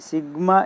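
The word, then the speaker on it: sigma: है कि यहाँ पे सिग्मा is letter A Greek alphabet, it is pronounced as सिग्मा।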